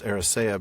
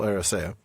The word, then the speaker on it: Eressëa: Tol Eressëa, and again, that's a word I used to pronounce Eressëa because I always had this tendency to read the umlaut like it was a stress mark, but it's definitely Tol Eressëa.